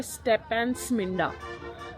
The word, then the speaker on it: Stepantsminda: मिल गया है replacement looks so cute finally pronunciation सीख ली है इसको बोलते हैं स्टेप एंड स्मिंडा इस जगह का नाम है तो चीज इतनी